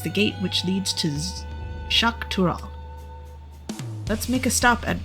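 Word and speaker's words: Xak Tural: for the landsgard so I think that X's are pronounced with an kind of an sh sound in this dialect tune to the ather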